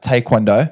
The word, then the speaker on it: taekwondo: you have had in your profession of uh taond yes thank you for the correct pronunciation yeah I was very very nervous to say it actually I don't know why I've always known it as taekwondo yeah that's but it was nice to hear